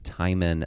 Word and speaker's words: Timon: So, it's spelled the same as the uh Disney character, but it is not traditionally pronounced the same as Timone and Pumba, but what you're asking for is who is Tyman of Athens?